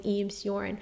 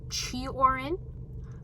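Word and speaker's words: Cioran: Albert Kimu is 10,000 times more popular than urin I don't even know if that's how you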